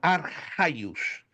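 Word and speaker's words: ἀρχαῖος: Ainda que você vê aí o ch, mas no grego você pronuncia então arraios.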